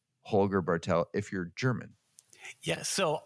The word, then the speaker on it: Holger Bartel: I would pronounce it like Holger Bartel. There you go. Just a little more emphasis there at the front, at the first That's syllable.